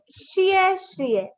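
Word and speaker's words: 谢谢: X makes the sound sh. Sh. And this is I and E combined makes the sound E. So sh plus E we get shie, shie. Shie, shie. Now these both are fourth tone. Fourth tone is a sudden falling tone.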